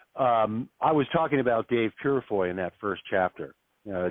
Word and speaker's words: Purifoy: weight room together too Dave periphery Dave burafoy uh now how do you say that name yep that's uh Dave Purifoy Now Dave unfortunately is